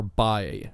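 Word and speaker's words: Bá: Way and illustrated by Gabriel Bae, or Bae is how they pronounce his name.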